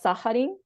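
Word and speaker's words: サハリン: down like this, and it's called Saharin, or at least that's how it's pronounced in Japanese.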